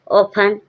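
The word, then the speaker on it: often: ऑफन जब टी के बाद टेन लिखा हो टी एन लिखा हो जब आप टी साइलेंट रहेगा कहीं लिखा है टी ई और एन तब क्या होगा टी साइलेंट रहेगा एन अकेला बोलेंगे ऑफन ऑफन मींस पराया हैसन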